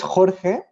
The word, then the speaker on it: Jorge: well my name is jorge i will spell it for you is j-o-r-g-e pronounced jorge and i'm i'm currently